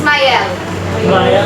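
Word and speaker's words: Myriel: The actual bishop of Digne during the time period in which Mayel, in French it's Mayel.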